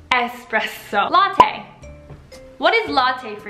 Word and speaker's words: espresso: espresso in my coffee well it's not expresso it's actually s spread so a spread so so none of this X business it's espresso latte what is latte